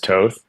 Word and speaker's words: Toth: Okay, because I probably because my family's European, I'm more accustomed to the European pronunciations to where I actually had to learn